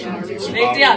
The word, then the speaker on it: Subaru: Or Subaru. Well, Subaru. Yeah, that's how they say it. Subaru.